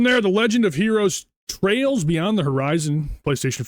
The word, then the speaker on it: Trails: It's the Legend of Heroes Trials Beyond the Horizon. Do you know anything about the the Trials games? Is it Trials or Trails? It's Trails. This one's Trails.